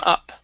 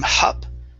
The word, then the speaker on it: up: here you are you're pronouncing uh pronouncing the h with up he came hop okay take off that h he came up he he came up okay so you're saying hop okay instead of ha adding an h there